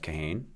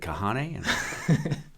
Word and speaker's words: Kahane: down in Calgary is headed by Jeff Caine so he that's how he pronounces his name so that's how we say it but you're not alone lots of people uh say is it is it kahane so it's fine very